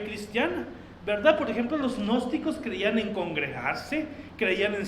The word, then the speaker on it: gnósticos: Un grupo de personas que formaron grupos, que formaron sectas que se conocen como los gnósticos. Sí, gnósticos, se escribe Gnosticos, gnósticos con G al inicio.